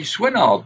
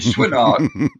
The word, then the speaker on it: Swinard: Yeah, that's what most Americans Swinard. They sort of like put it in two syllables, Swinard.